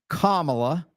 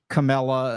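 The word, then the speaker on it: Kamala: of kamla Harris and I did say comma because every normal person is perfectly able to pronounce her name and knows her name and naturally Donald is doing everything he can to be ignorant Camella and all that other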